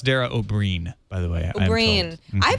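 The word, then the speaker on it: Dara Ó Briain: It's pronounced Dara O'Brien, by the way.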